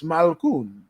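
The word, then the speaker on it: Malkoun: We even learn how to pronounce his name correctly. So it's Malkoon.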